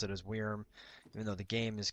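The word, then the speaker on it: wyrm: to pronounce it as weirm even though the game is constantly pronouncing is just worm because it's spelled with a y and the english you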